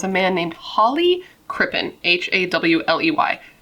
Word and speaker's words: Hawley: man named Hawley Crippen, Hawley. I believe it's pronounced Holly.